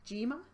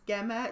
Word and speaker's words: Gemma: Gema? Is this Gema? No. Is it Gemma? It's Gemma. Yeah, I've had Gemma as well.